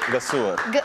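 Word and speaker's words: Gëzuar: Gazuar. How do you say? Gazuar.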